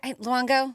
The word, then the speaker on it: Luongo: Luongo to a cheese am I saying it loango loango Luongo okay good to a cheese shower